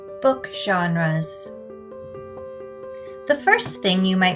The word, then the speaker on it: genre: of our spelling rules the g sounds like a j so we use the soft g rule knowing that when g